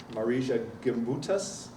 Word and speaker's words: Marija Gimbutas: If you believe some archaeologists like Marija Gimbutas, I think that's how you say it, and